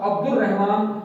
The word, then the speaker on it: عبد الرحمن: عبد الرحمن پڑھوں گا، दाल और रे को मिलाऊंगा, अल को लिखूंगा लेकिन इसको खामोश करूंगा, पढ़ूंगा नहीं, साइलेंट होगा। अब्दुल रहमान लिखेंगे, लिखना लाजिम है वरना इमला गलत हो जाएगी, लिहाजा अब्दुल रहमान इसको पढ़ेंगे।